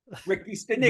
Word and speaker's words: Ricky Stanicky: He's just basically saying how you pronounce it is you have to rhyme the two words.